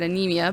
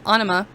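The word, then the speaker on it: Ænima: Now, Ana, and I know I mispronounced that earlier. I said Anemia, but Ana came out in 1996 and was their second fulllength album.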